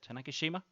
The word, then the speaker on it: Tanegashima: It's launching from a little island called Tanegashima, I think you pronounce it, Tanegashima.